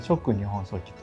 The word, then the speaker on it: 続日本書紀: 日本書紀と書いて続日本書紀というこの 2 つがあります。